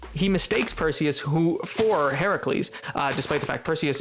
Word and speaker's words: Heracles: Heracles as Hercules but in Greek he's it's technically pronounced Heracles uh and it's the